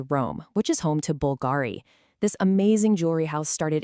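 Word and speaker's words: BVLGARI: You see that V, but you're supposed to say a U.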